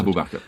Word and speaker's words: Abu Bakr: And this was a great friend of Muhammad's, Abu Bakr, is that how I pronounce it? Abu Bakr.